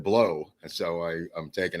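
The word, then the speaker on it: Pleau: say oh Paul blow although it's called p-l-e-a-u it's he pronounced it below I don't care I won't argue whatever Viva says I this is what the guy I thought it was blue but he said blow and so I I'm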